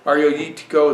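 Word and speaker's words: Agiorgitiko: The way it's spelled is Agrogitiko. Arioyitico. Arioyitico is how they say it.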